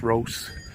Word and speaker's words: Rhos: Pet shop, or Rhos actually, pronounced Rhos.